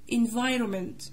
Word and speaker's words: environment: تصلح للزراعة crops محاصيل environment بيئة هنا الحرف ال N ده silent nutrients يبقى nutrients عناصر